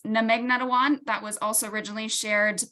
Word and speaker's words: Magnetawan: So in my introduction, I butchered it, but the actual pronunciation of Magnetawan is Namegnetawan.